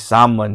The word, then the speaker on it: salmon: pero syempre dito is Salmon with the silent letter L right so Salmon and